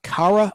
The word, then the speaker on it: Cara: She appeared in a 1964 episode of The Cara Williams Show, spelled with a C, C-A-R-A, The Cara Williams Show,